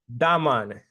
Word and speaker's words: Damon: So again, I keep wanting to say your name the right way, but you got to say it like a Jamaican. So you say it real quick. It's Damon.